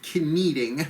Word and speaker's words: kneading: She's kneading. I like to throw in a silent K as a verbal one.